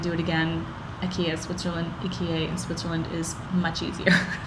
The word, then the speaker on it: IKEA: bo it's funny when you try to say ikea it's eka and sometimes they don't understand you when you